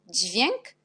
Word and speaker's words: dźwięk: Et DZI, on prononce aussi di. Par exemple, dźwięk, dziecko. La prononciation est même.